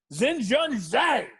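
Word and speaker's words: Xinjun Zhang: just because i love to say the name zen john zane minus 110 over kyle stanley and kyle stanley how do you spell that how do you spell that uh that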